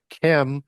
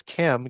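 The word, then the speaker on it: Cham: this knowledge after is Chem or Hams because Ham is spelled C H A M. though as we would transliterate that as Chem.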